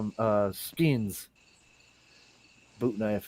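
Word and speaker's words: sgian: uh call them uh we call them uh skins boot knife it's called a skin it's spelled s g i a n and it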